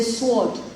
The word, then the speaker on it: sword: be silent it be silent then s-w-o-r-t we say sword is sword sword not sword and the words like